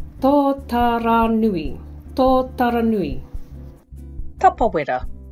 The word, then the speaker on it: Tapawera: Tapawera. There's no need to shorten it to tap. Give tapawera a go. Tapawera.